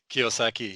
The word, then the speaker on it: Kiyosaki: I think I can never pronounce his last Yeah, name Robert correctly. Kiyosaki.